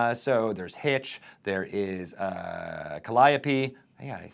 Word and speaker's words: Calliope: So there's Hitch, there is Calliope.